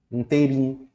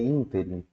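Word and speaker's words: ínterim: humano pronuncia isso aqui como é que ele pronuncia inteirinho e erra a palavra a sílaba tônica não é inteirinha a silaba tônica é interin tá E aí sem o assento a coisa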